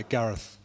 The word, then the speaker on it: Gareth: Hi, Gareth. Gareth? Gareth. Gareth. Gareth. ATH? ETH. ETH, Gareth. Gareth.